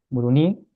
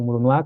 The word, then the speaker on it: Moroni: de Comoras y todo, la pronunciación de Moroni, como lo conocemos en español, vendría a ser Muruní. Entonces es con U y con un acento en la I al final, entonces Muruní o Murunua, como algunos lo mencionan.